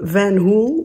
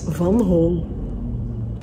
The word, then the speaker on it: Van Hool: you probably all known it by the name van hool but actually that's not correct van hall is